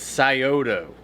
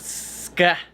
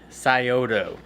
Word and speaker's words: Scioto: so the name of this company correctly is Scioto. Scioto is off the Scioto River out of Ohio, and that's where they came up with the name. So it's not Ska, it's Scioto.